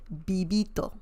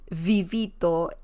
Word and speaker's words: vivito: is very similar to the BS in Belle bibito okay but if you have you know if you say vivito it's okay like Spanish speakers will understand that